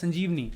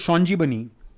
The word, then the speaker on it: Sanjeevani: Mitra, and the name of the paper was Sanjeevani, of course, as the Bengalis would pronounce it Shanjibani, right? The Bengalis would obviously call it Shanjibani because there's no V sound in Bengali.